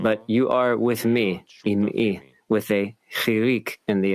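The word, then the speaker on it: עמי: Do not pronounce, you are my people, am'i, with a patach in the ayin, but you are with me, im'i, with a chirik in the ayin, which means partnering with me.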